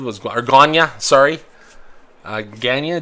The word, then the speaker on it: Guyana: Uh Guyana, g u y a n a. All right, is my pronunciation so way off?